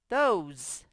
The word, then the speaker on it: those: The E is silent, but it's going to make the O, which is the vowel you see, say its name. O. So TH says the. O's. Those.